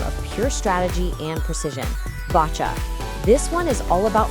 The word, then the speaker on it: boccia: Botcha. This one is all about finesse, not force. First things first, let's get the pronunciation right. It's botcha.